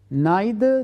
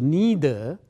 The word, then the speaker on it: neither: Neither nor, this also can be pronounced neither or neither.